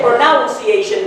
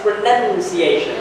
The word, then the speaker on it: pronunciation: going to be covering pronunciation which you never say pronunciation by the way the verb or the ad word is pronounced but when it becomes a noun it's pronunciation not pronunciation all right so pronunciation